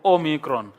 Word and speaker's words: Omicron: Omega ok Omega Omega if we have an Omicron this is a short o of Omicron and this is a long oh ooh Omega it's it's long and round but then the Omicron is short and close Omicron o and then